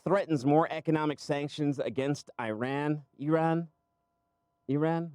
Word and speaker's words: Iran: Did he pronounce it as Iran? Most of the time, don't get it right. It's Iran.